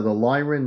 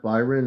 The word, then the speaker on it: Lyron: Father, the Lyron, not Byron. I think you understood it was Lyron, but the computer said Byron.